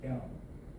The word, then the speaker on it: Genom: Or in original pronunciation in German, genome.